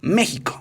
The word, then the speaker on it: México: empezó a evolucionar y la equis pronunciará como sh terminó por desaparecer y en cambio se empezó a pronunciar de diferentes maneras en el caso de méxico se empezó a pronunciar como jota es decir méxico y en el año